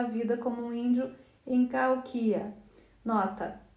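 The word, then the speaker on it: Cahokia: Eu até me lembrei de que deveria colocar a ênfase na terceira sílaba quando digo Calquia, ao invés da segunda, que é a forma como as pessoas brancas pronunciam essa palavra.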